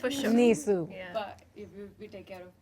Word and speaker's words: NISAU: We pronounce it NISU.